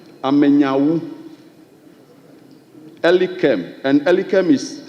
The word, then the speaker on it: Elikem: Elikem Amenyawu. Elikem. And Elikem is spelled E-L-I-K-E-M.